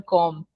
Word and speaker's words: compte: It's compte or comte. Comte. This is Compte. Okay, Comte. we don't pronounce the P. We don't pronounce the P at all, Hmm. and we say Comte. M as N.